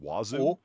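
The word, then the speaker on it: oiseau: ] weird o i s e auau is pronounced wazu o o oh it's fanatic sort of that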